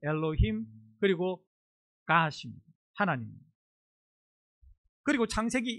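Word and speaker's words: אֱלֹהִים: 오른쪽에서 왼쪽으로 있는데 가운데 제가 동그랗게 동그라미 표시돼 있는 거 저 단어가 발음을 엘로힘이라고 합니다. 엘로힘 그리고 가심입니다.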